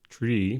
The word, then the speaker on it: trie: who coined the term tree pronouncing a tree after the middle symbol mid after the middle syllable of retrieval however other authors pronounce it as try in in an attempt